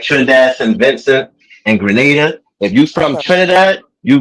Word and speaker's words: Grenada: Like we pronouncing Granada. Yeah. But Grenada. My grandfather's from Grenada.